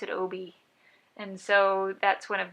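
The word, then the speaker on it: Obby: Everyone thinks it's my husband, we spelled it O-B-B-Y, and everyone thinks it's Obi, and I pronounce it Obi.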